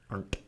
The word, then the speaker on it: Arndt: we have a screenwriter for Episode 7, Michael Arndt, I think is how you would pronounce it. I mean, I don't A-R-T, aren't. Arndt, Arndt, Yes.